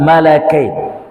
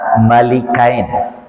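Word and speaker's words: ملكين: Wa ma unzila 'alal malakain. Berasal dari dua, perhatikan, saya akan baca dengan malakain. Karena para ulama mengatakan bisa dibaca dengan malakain, ada juga yang membacanya malikain.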